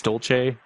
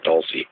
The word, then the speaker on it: Dulce: New Mexico or don't I think it's Dolce Dolce Mexico I think it technically I think that's right but I think the Americans around there pronounce and Dulce not sure about of a native but I've heard both I think it is Dulce though well in the